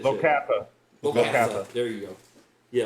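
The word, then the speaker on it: Locathah: Locathon? How do you say that? Locatha.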